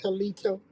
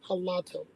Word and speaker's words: Halato: And I'm glad you didn't say Halito, because it's hilarious. Thank you for saying it correctly. I get tired of Halito. Halato.